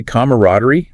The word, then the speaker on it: camaraderie: Some traditionalists might say camaraderie with four syllables, but most American speakers now use a more streamlined three-cllable version.